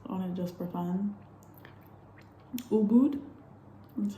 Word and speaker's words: Ubud: Ubud, that's how they say it, I guess.